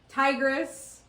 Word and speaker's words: Tigris: Tigris. It's spelled like the Tigris River. And I've also heard it both ways.